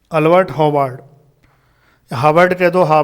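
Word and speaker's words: Albert Howard: अल्बर्ट हार्वर्ड कह दो, कोई दिक्कत नहीं है प्रोनाउंसिएशन में।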